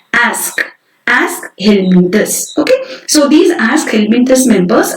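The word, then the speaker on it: Aschelminthes: How to pronounce this word? Aschelminthus.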